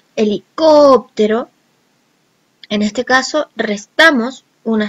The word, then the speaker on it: helicóptero: cuya última palabra es una palabra esdrújula, es aquella en que la voz se carga en la penúltima palabra, en la penúltima sílaba, como en el caso helicóptero.